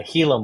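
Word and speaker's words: Gila: hila monster anybody who doesn't know what a hila monster is spelled g l a go ahead and look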